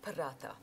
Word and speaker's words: Paratha: The paratha. Aloo Paratha. Paratha. Yeah, so there's kind of emphasis on the TH.